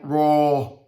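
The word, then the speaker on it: רע: hebrew word is right raw it is spelt r a and you have the marks a h it is phonetically spelt r a h right and um that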